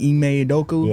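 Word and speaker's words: Ime Udoka: From getting coach, was it that Eay Adoku? That's how you pronounce it.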